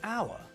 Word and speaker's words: hour: When we say hour, we don't pronounce the H at the start of the word. So the word sounds like hour. So it sounds like the first letter is a vowel, so we use un, not a, with hour.